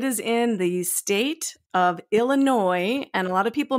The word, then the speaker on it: Illinois: in the state of Illinois and a lot of people mispronounce this there is an s on the end of that state name but we do not pronounce it it is Illinois not Illinois right and